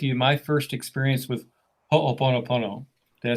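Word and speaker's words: hoʻoponopono: to share with you my first experience with ho oponopono did i say it correctly you sure did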